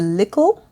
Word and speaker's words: lickle: It says, you're lickle, which is spelled L-I-K-K-L-E, but it means little.